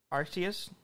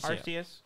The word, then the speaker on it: Arceus: pokemon legends yes uh arceus is that right is that cerseus i think that's how you pronounce it arceus um arceus a open